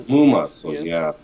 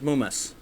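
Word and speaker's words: ムウマ: Yeah, it's Muma. So all right. So the official pronunciation is Mumas.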